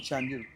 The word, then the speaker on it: Chandiru: uh Chanderu say Chanderu Chandiu It is chandu chandu chandu chandu chandelu chandu.